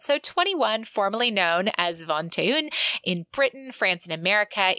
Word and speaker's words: vingt-et-un: And that card game that he was playing is French, and it isn't pronounced the way that it looks on the page, but it's Vingt-et-un or something like that.